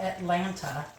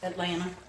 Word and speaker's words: Atlanta: say that just like it's not Atlanta Atlanta it's Atlanta we chew our words and take out syllables and all that good stuff